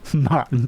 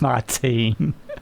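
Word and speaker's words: Martín: Going back to the MotoRap, and I had Pete text in, says that I pronounce Jorge correctly for George. Nice. But I didn't pronounce his surname Martin properly. It's Martin.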